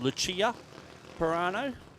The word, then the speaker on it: Lucia Pirano: I pronounced it wrong the first time I said it, but it's Lucia Pirano.